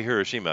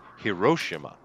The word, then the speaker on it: Hiroshima: you know it's interesting you say Hiroshima because that's actually a correct pronunciation but I hear a lot of people in the in the West say Hiroshima yeah well yeah they are wrong yeah and immortal V